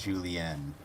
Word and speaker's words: julienne: julienne, and it's with an E, not an A. It's julienne.